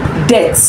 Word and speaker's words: debt: loss third one is debt debt the B is silence d a the B is silent that man is owing